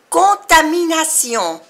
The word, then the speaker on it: contamination: un risque de contamination contamination Tiz la una vocal nasal o que se pronuncia o y al final tambén contamination contamination de tomber